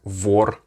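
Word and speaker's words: вор: words for example like vor that's word for thief like war the fourth letter in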